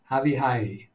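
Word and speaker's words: Avichai: My recollection is that in many languages, the CH combination is pronounced as the guttural in the back of the throat.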